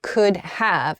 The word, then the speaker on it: could have: could have could have but when speaking in speech it sounds like of I could have I